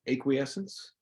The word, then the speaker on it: acquiescence: See if I say it right, because I was saying it wrong for so long. Acquiescence. I would say acquiescence. See, acquiescence started. So acquiescence. You had to give to,